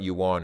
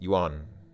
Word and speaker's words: yuan: is the currency here that word is one syllable I people go yuan or yuan and where I was kind of painful okay so it's not you want it's yuan you want you want like like the name Juan you don't say